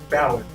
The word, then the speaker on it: Ballade: Ballad. It's spelled Ballade, but I guess it's French. You don't say the E, so it's I don't know.